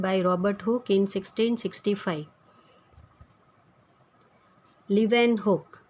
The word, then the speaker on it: Leeuwenhoek: Leeuwenhoek, the pronunciation is Leeuwenhoek, in 1674.